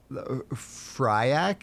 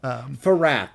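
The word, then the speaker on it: Fyrakk: Fryak is what I always want to say. Farak, I believe is how you say it.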